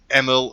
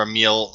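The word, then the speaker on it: Emil: agent Robert Nightingale and doctor ml or a meal I've seen it pronounce both ways Hartman refer to the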